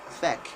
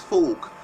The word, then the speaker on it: fork: our journey a lot of people tend to mispronounce it I mean get to hear people say feck as in the fecking used to eat no it's not heck is fork fork knife a fork spoon fork so it's